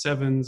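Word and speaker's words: CEvNS: sometimes produced as it's pronounced sevens because nu and V look alike and this was actually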